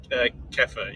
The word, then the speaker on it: kefir: Is it Kiefer or Kiefer? Kiefer? Kefir, yeah, basically you pronounce it. Okay, Kefir.